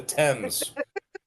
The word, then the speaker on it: Thames: It's spelled Thames, but they call it the Thames.